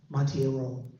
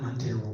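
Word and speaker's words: Monteiro: political study and um Tony uh montiero not mono montiero I mean I heard him pronounce his name that way so you know me and I realized you know me he never corrected me but I realized I was Ring wrong so Tony mon Tony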